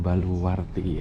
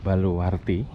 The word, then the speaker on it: baluwarti: Pak mongg itu dinamakan baluwarti ya tembok baluwarti tembok baluwarti ini e memiliki pelafalan ya at memiliki penyebutan yang sama dengan kata baluarte bahasa Portugis dari bahasa Portugis baluarte yang artinya adalah benteng gimana annya ya koreksi